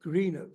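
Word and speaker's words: Greenock: in Greeno is it is that how you pronounce it Greeno yes Greeno in Scotland in 1949 he attended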